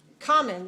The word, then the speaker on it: common: spell it c-o-m-m-o-n but it's a double m in spelling not in spoken english but in spelling but